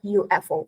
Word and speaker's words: UFO: Of course, it's a UFO.